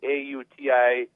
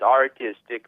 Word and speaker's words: autistic: I happen to be autistic, so if I do something out of the norm, and often I pronounce autistic, A-U-T-I-S-T-I-C, as artistic, but I mean autistic.